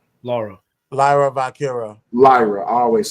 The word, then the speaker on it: Lyra: What's how you pronounce her name again? Laura. Laura. Lyra Vira.